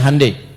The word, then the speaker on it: Hyundai: Ya, Hyundai saya tahu bahasanya dibacanya Hande ya.